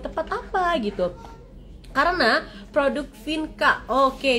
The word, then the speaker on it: Vienka: apa gitu karena produk Vinka Oke dibacanya Vinka teman-teman bukan pakai XV Darah jadi di sini